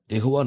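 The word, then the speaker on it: יה: முதல் 2 எழுத்து யோத் ஹே, இந்த 2 எழுத்தை நீங்கள் இணைச்சிங்கன்னா அதை உச்சரிக்கும் போது யா அப்படின்னு சொல்லி உச்சரிப்பாங்க.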